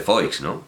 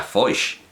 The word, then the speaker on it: Foix: decir germana de foix no se dice fox y además como es como es valenciano sino si no recuerdo mal e incluso sería foix y no fox bueno yo digo foix